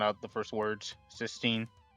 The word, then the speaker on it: cysteine: out the first words cysteine, it kind of sounds closely to S. So cis will kind of sound like S at the end.